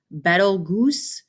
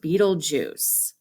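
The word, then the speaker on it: Betelgeuse: of the most popular popular stars looks like betelgoose it's pronounced beetlejuice look at that it's very very bright you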